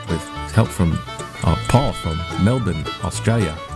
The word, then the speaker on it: Melbourne: help from Paul from Melbourne Australia how you say it Melborne no it's melbour that's the slang I